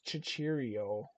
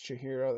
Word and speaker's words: Chihiro: I think it's Chihiro. That's how you pronounce it.